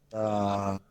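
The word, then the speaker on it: دال: দা দা দি বা আরবিতে কোন ধই নাই ঠিক আছে ধ নাই এটা মানে মাথায় রাখতে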